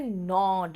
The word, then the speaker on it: gnawed: Same कुतरने का होता है नॉड, GNAWED, जी साइलेंट वहां पे, इसीलिए ये नॉड हो या निबल हो, दोनों का मतलब है कुतरना।